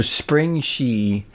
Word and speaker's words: Springshe: not spring but the she is there so spring she and it's in G which rhymes with e which is your in studio e